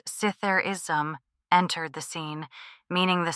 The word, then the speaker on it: Zitherism: Zitherism, pronounced Sitherism, entered the scene, meaning